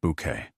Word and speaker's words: Bucket: The delivery arrived at Blossom Avenue just as Hyacinth Bucket, pronounced Bouquet naturally, was polishing her Royal Doulton with the hand-painted periwinkles.